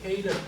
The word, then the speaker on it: KCLEP: 일단 그 K랩 프로그램 들어가 볼 건데요. 다 설치는 돼 있어요. 아래쪽 검색에다가 KCLEP 이렇게 검색하시면 왜 K랩이라고 있는지는 모르겠는데 일단 스펠링은 KCLEP입니다. 검색하셔서 파일 열어주십니다.